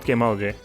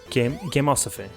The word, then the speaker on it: Gameosophy: No, not Gameology. Gameosophy. Gameosophy. Yeah, that's how it's pronounced.